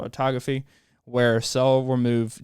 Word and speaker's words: autophagy: Pronunciation. Autophagy.